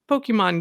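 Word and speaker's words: Pokémon: There's a little accent on the E, so I'm always like Pokemon. Like you just barely say it. Like just say Pokemon. It quick.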